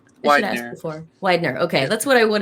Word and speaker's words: Weidner: how do you say your last name before Widener okay that's what I would have said but